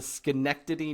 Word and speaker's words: Schenectady: So, Todd lives in the Boston area, and he traveled up to Schenectady, New York.